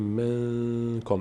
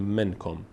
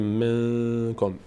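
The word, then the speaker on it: منكم: بینی ادا میشه میگیم منکم نمیگیم منکم میگیم منکم نون از بینی ادا میشه به همراه مقداری مکس در هنگام تلفظش منکم خب این‌ها چهار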